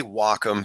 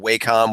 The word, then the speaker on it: Wacom: It is technically Wacom, but we get Wacom, we get Wacom, Wacom, we get all kinds of different ones.